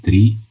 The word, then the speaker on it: trie: I know it's tree. Like in English, it's supposed to be tree from retrieval, but uh, it sounds weird to say a tree because that's obviously, and